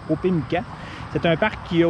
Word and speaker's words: Opémican: C'est comme ça qu'on dit, le parc Opémican.